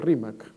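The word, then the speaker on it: Rímac: Entonces, el quechua de la sierra es un poquito más fuerte en la pronunciación de la L, termina siendo una especie de R, ¿no? Entonces, no es Limac para alguien de la sierra, no es Rimac, ¿no?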